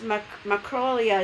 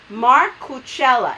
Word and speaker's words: Marcucella: Macrolia is saying it's the best way to say. Oh wait, he's telling me how to pronounce his name. Marcucella.